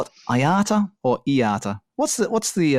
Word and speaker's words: IATA: people pronounce it oh I pronounce it AATA but I know that some people uh would pronounce it like letter by letter uh iata I heard that in